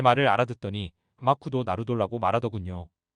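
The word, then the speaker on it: マクドナルド: 일본인이 제 말을 알아듣더니 마쿠도 나루돌라고 말하더군요 그러니까 일본인들은 맥도날드를 마크도 나루토라고 발음하고 있었기 때문에 제 발음을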